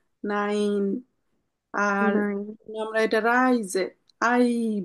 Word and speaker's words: nein: আমার এরকম যদি থাকে এ ই এভাবে থাকলে আমরা সোজা কথায় আমরা ইংলিশের যে উচ্চারণটা নিই ডান সাইডে যে আছে তার উচ্চারণ নিব ঠিক আছে এজন্য তাহলে এটার উচ্চারণ হলো নাইন আর আমরা এটা রাইজে